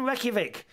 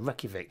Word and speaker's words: Reykjavik: ash thank you robert says i was in reykjavik about three weeks ago is that how you